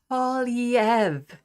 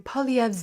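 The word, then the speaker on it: Poilievre: you may be hearing pov's name a lot or more now that he's conservative party leader best to get a handle on that French French pronunciation it's POV POV POV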